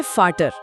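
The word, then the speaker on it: Vater: का क्या है हां तो वी का उच्चारण हमेशा फ होता है जैसे अंग्रेजी का एफ हमेशा फ हमेशा जैसे पिता के लिए शब्द है वाटर जिसे हम बोलेंगे फाटर फाटर पक्षी को वोगल यानी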